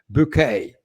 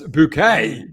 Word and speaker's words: Bucket: Hyacinth Bouquet, as she called herself, but it was spelled bucket.